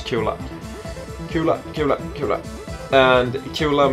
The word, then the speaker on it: Kula: sweets and Kula is it's pronounced Kula in Swedish Kula Kula Kula Kula and